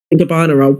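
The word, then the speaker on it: Gabbana: next day is like, "How do you spell Gabana?" And it's like, "You live in you live in New York, so you've seen an ad. You've you've surely you know gabana."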